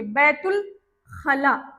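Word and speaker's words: بيت الخلاء: अलिफ यहाँ पर लगेगा पर अलिफ क्या है? साइलेंट है। बैतुल खला, ते को सीधा लाम के साथ डायरेक्ट पढ़ देना है।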